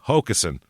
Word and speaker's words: Hockessin: this one is pronounced different ways, but the locals... Yeah. I saw people advertising their local businesses and saying Hockessin. So...